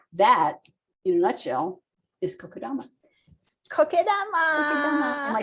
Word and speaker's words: kokedama: too um so that in a nutshell is kokodama am i saying it right yes yes so